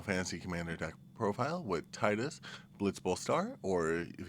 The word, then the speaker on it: Tidus: We're back with our Final Fantasy commander deck profile with Titus Blitz Bull Star. Or if you want, you can pronounce it Tetus.